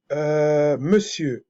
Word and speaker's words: monsieur: voulez vous allez voir Monsieur en se pr on se prononce e r ne se fait pas entendre on dit ça veut